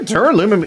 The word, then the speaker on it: duralumin: picked up there there Al umum case this dur aluminum case am I saying that right is there dur aluminum even a fucking material it is pronounced duralumin